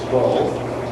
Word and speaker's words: Kroll: Kroll, because we always pronounce it wrong, it's Kroll, is also very involved and concerned with district initiatives.